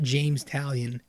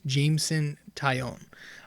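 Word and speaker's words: Jameson Taillon: ] out of me it's not james italian it's jameson taion um but i would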